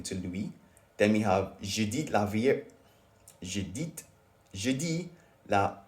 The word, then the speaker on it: je dis: No, that's not a good pronunciation. Je dis la vérité. Okay. Je dis la vérité. Et voilà. Je dis. Because it was registering as me saying j'ai, which is I have.